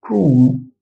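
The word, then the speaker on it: chrome: احنا عارفين هنا سكول سكول هنا اقول ايه انطق الاتش هقول ايه كراكتر كراكتور كراكتور هنا اقول ايه اقول كروم كروم جوجل كروم كروم كروم هنا اقول ايه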